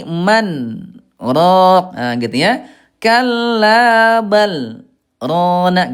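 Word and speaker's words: مَنْ رَاقٍ: Nah, Ibuna hati-hati ini bukan bukan idgam bilagunah ya, bukan marrok tapi man ro ah gitu ya.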